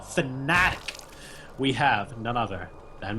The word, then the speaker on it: Fnatic: And his in-game tag conveniently is phonetically exactly how you should be pronouncing his team name. Not Fnatic, but Fnatic.